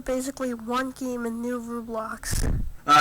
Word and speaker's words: Roblox: So, this is basically one game in new Roblox. Uh yes, Rublox is how I pronounced it because my cousin pronounced it like that.